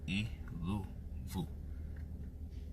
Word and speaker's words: Iluvu: We put dots between the E and the L and the U and the V. Iluvu. So you can see the syllables. So we say iluvu.